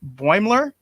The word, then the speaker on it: Boimler: But he said it's pronounced Boimler. Am I even pronouncing it right after Donnie gave us the pronunciation? Boimler?